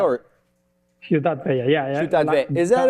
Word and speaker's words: Ciutat Vella: Am I pronouncing that right? Ciutat Vella or? Ciutat Vella, yeah.